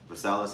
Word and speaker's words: Versailles: Okay, Khan, this is some quick information on the Treaty of Versailles, if I'm pronouncing it right.